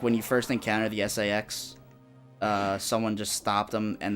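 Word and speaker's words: SA-X: It's like, you know it's not pronounced that way, but it's quicker to say Sax instead of SAX.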